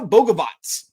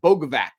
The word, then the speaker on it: Bogavac: Luca Boavatz, which I would not guess that's how you pronounce his last name looking at the spelling, folks.